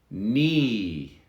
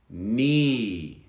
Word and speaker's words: knee: now we're going to look at the the the silent k so we have a few words that you see the k but you never hear it no no knee knee the knee of course